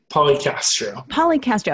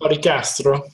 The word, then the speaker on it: Policastro: Policastro. Okay. Say it with the Italian accent. Policastro.